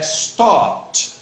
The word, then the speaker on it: stopped: então, mas esse caso é o som do T. Quando É, stop it. É stop it. veja, stopped, stopped. Stopped.